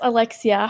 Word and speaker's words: Alexia: Alexia, am I saying it correctly? Yes, Alexia.